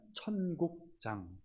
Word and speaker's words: 천국장: 분들 계신데 뭐죠 천국장입니다 천국장 발음을 잘하셔야 됩니다 듣는 사람들 헷갈릴 수가 있어요 마태복음 13장에 여러 가지 천국에 관한 비유를 주님께서 여기다가 모아 놓으셨어요 그래서 마태복음 13장 하면 천국장 마태복음 5 6 7장은